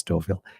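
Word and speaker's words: Stouffville: and for some reason I was trying to pronounce the Fs incorporate the Fs. And again I knew it was Markhamm Stoville because I've heard it but I couldn't remember it.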